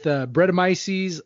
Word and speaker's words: Brettanomyces: With, and you're going to have to help me with the pronunciation here, Brettanomyces?